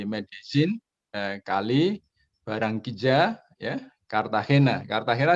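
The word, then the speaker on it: Medellín: Medellin, tulisannya Medellin gitu ya, tapi karena ini ejaan Spanyol, double L dibaca Z jadi Medellin.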